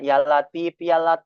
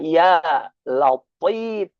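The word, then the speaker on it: يا لطيف: Kalau yalati pakai huruf ta, tapi ini pakai huruf tho. Cara pengucapan huruf th, ujung lidah ditempelkan kepada ujung gusi yang atas. Jadi terkait si ujung lidahnya ke ujung gusi yang atas. Inya akan menghasilkan huruf th ketika dibaca ya latif.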